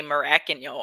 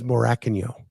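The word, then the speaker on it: Morakinyo: Well, it's better than Down Under, who they just say Maracanio all the time.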